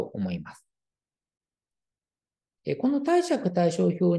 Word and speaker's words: 貸借対照表: に乗っかっていますこれでね貸借対照表と読むんですねということ